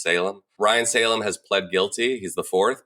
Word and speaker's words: Salame: a fourth Ryan Salem which is I believe how you pronounce it I used to call say salame but I think it's Salem Ryan Salem has plad